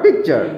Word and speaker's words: picture: PIC, pick, TURE, চা, পিকচার। আচ্ছা, তুমি একটু উচ্চারণগুলো করো তো, বলো তো, তুমি কয়েকটা শব্দ বলো তো।